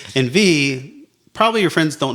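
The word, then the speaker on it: Viy: The next episode, we will be watching a Soviet Union era movie called V. It's spelled V-I-Y.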